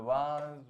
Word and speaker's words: vase: The vase was broken by him. Perfect. कई लोग वेज भी पढ़ते हैं इसको. The vase was broken by him. So अलग अलग pronunciation.